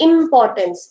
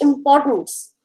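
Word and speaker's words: importance: हमने एक वर्ड लिया, अब अगर बच्चा इसकी बिगिनिंग पे स्ट्रेस डाल देता है ना तो वर्ड की प्रोनाउंसिएशन ही गलत हो जाती है। इम्पोर्टेंस, बच्चे बोलते हैं इम्पोर्टेंस, इट्स नॉट इम्पोर्टेंस, इट्स इम्पोर्टेंस।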